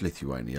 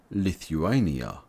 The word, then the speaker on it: Lithuania: borders Belarus Latvia Poland and Russia and you pronounce Lithuania like this lith you a knee ah lift you a knee ah Lithuania subscribe for more videos from English language training